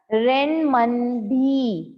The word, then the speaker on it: Renminbi: Renminbi. Renminbi is the currency of China. Fourth का answer है rain. देखो इसमें मिन भी लिखा हुआ है, पर इसे प्रोनाउंस मनबी करते हैं.